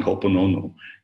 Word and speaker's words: Ho'oponopono: Can never spell it, but it's excellent, powerful. Yeah, it's not Ho'oponopono.